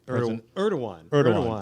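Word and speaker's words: Erdoğan: Erdogan, Thank you.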